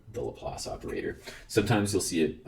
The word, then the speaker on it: Laplace: the best of me it's named after a Frenchman so you shouldn't say that it's named after Pierre